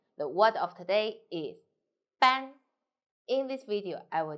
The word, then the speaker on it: 班: 安 from your nose.